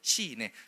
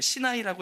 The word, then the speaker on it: 시나이: 시인에. 여러분, 그렇게 읽지도 않아요. 시나이라고 읽고 영어로는 사이나라, 그냥 다 읽는 방식에 따라 다른 건데, 그 신의 개자를 써서 시내산, 이게 다 착착착착착 이것 때문에 생기는 일들인 거예요.